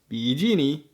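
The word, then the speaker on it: 比基尼: original words for example coffee is cafe bikini is bigini and sofa is shafa the same goes for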